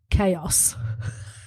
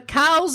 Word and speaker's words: chaos: he came back and he said um I've just been told it's pronounced chaos and there was true cuz people in our class would occasionally go ah the cows of what we are experiencing at the moment and the rest of